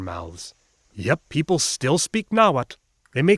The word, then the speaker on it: Nahuatl: Those UHs do indeed correspond to W's. There really are just 4 vowels, and this 4th vowel drifts freely between O and U, which explains those earlier spelling variations. And elephant in the room, or jaguar in the temple, but this TL all over the place, is kla.